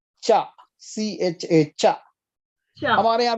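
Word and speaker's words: 茶: Tea is called cha.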